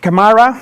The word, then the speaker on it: Camara: Camara is in fact the the the pronunciation and it's telco APIs and telco APIs